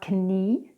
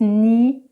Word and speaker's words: knee: Whenever you have K and N together, the K is not pronounced, like in the words ni or no. It's not kni, it's not kno, it's ni and no.